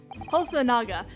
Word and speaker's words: Hosonaga: It's Naga, not Noga.